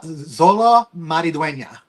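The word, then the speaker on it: Xolo Maridueña: I'm not even going to take Zolo Maridwena. It's like I know you want to say like uh like like yolo, but it's like a Z.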